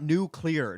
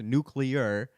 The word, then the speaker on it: nuclear: And I'm like, and then they try to like phonetically spell it out, and usually they're like new, like NU, and then clear. And I'm like, it's not nuclear. Nobody says nuclear. That's not how it's fucking said. It's nuclear.